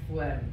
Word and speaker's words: phlegm: The phlegm in the tubes. It's pronounced phlegm. You pronounce the H.